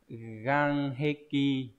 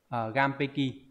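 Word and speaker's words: 岩壁: Chết rồi, tự nhiên từ này lại quên, không biết là đọc là Ganheki. Không phải rồi. Gampeki à? Gampeki.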